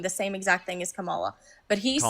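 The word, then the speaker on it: Kamala: What Trump's stance is going to prevent more murders than allowing Kamla to just what? How do you pronounce her name? Camala.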